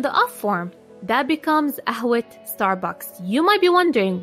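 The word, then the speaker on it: قهوة: You might be wondering, why did I pronounce the T in Ahwe? What happened to my AH? Simply because my first noun, which is Ahwe, is feminine, I have to replace the AH with a T.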